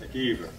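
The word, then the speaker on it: McIver: spell capital IVER, even though it's pronounced McKeever.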